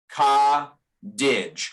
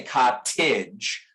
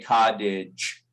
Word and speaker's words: cottage: Americans don't like the internal T. So we have ka and then didge, right? This is the way we say that word, ka didge. Somebody from Britain is going to pronounce that T much more sharply. They might say cottage. Americans don't do that. We say cottage with a D.